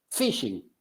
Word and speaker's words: phishing: O por ejemplo, esta pequeña palabra, una de las tantas técnicas de ingeniería social, phishing. ¿Saben cómo he escuchado que se pronuncia esto? Phishing, porque la H es muda.